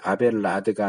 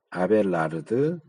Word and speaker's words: 아벨라르드: 이것은 이제 모범설은 소키누스가 주장을 했고, 이 도덕 감화설은 피터, 요거 발음을 잘못 번역했는데 아벨라드가 아니고 아벨라르드예요. 르 발음을 해야 돼. 아벨라르드.